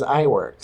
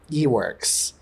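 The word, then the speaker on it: Iwerks: I would never think it was I works. I know. My teacher in college said Eworks.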